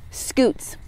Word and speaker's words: Scutes: He has a very cute name, but I bet it's spelled differently than what you're thinking. S-C-U-T-E-S, Scoots.